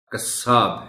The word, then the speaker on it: قصاب: وافر ہے، وافر نہیں۔ حجام جیم پر شد کے ساتھ بولا جانا چاہیے۔ اسی طرح قصاب ہے۔ ہم یہ دونوں الفاظ شد کے بغیر بولنے کے عادی ہیں عام طور پر۔ حجام ہے، قصاب ہے۔